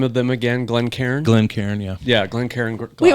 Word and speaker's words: Glencairn: Glencairn, yeah.